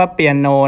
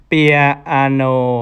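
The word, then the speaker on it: piano: เหมือน กัน นะ ครับ คน ไทย จะ เรียก ว่า เปลี่ยน โอ นะ ครับ แต่ ถ้า สำเรียน ของ เขา เนี่ย จะ ออก เสียง คล้าย ๆ 3 พยางค์ นะ ครับ เปีย อาโน นะ ครับ จะ เป็น อย่าง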